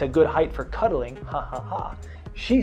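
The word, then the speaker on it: jajaja: In Spanish, J-A is you pronounce the J is ha, so ha ha ha.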